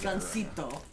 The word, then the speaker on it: Gansito: Gansito. You pronounce it like Japanese.